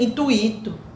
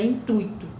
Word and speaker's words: intuito: Muitas pessoas pronunciam gratuito, né? Intuito, né? Barbarismo. Não existe gratuito, não existe intuito. O certo é gratuito, o certo é intuito, tá?